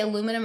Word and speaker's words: aluminum: And I feel like deodorant is one of them because of do you say aluminum or aluminium?